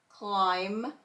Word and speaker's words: climb: MB, the B is silent, and we're going to hear M. Comb, climb, and crumb.